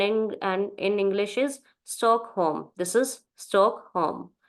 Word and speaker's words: Stockholm: city in German is Stockholm this is stockolm and in and in English is stock home this is stock Home L is silent in English so home okay then next uh